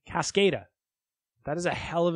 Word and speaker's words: Cascada: Is that how you say it? Cascada? I don't think so. I don't think it's a soft A. Cascada.